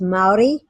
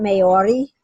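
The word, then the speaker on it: Māori: I mean, just for that, because it's about honoring, So if you, so it's Maori. So the R is like a D. So Okay. it's Maori, and you can go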